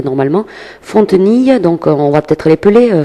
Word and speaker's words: Fontenille: Alors on va rappeler, bon c'est le prénom normal, ça s'écrit normalement, Fontenille, donc on va peut-être l'épeler Fontenille.